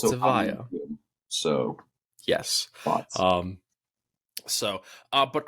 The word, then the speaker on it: Evija: And I, according to Lotus, it's oh, Evija. according to some Brits, it's Avaya. Well, ooh, According to some Brits in a shed, it's it's also Evija.